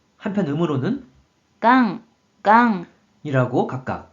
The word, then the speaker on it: 顔: 먼저 뜻으로는 顔、顔、 한편 음으로는 がん、がん、 이라고 각각 발음해줘요.